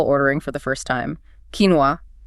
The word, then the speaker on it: quinoa: The quinoa pronunciation is a reflection of the words origins in the indigenous quest language, probably filtered slightly through Spanish on its way to English. So the moment you master that quinoa pronunciation, the confusion just vanishes pretty much.